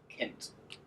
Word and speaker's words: Kint: I like using it with a tool called Kint. Uh don't mispronounce it. Sounds rude.